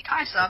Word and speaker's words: Caesar: by a guy named Caesar or kisur well well if it's Latin then you say kaisa because C is pronounced K and V is pronounced